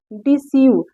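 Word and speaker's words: deceive: डी ई रिसीव मतलब प्राप्त करना होता है डिसीव डिसीव डी ई सी ई आई व ई डिसीव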